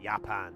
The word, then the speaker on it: Japan: I remember when I was studying German, they'd bring up the country Japan and it would, you know, that would be one of the the deals and it would just pronounce it Yapan.